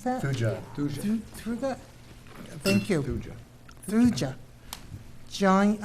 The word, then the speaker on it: Thuja: How do you pronounce that? Thuja. Thuja?